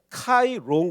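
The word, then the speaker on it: ΧΡ: 그게 바로 여기서이 low입니다 그래서 이게 px가 아니고 px가 아니고 카이로운 거예요 카이로 자 그러면 이게 그러면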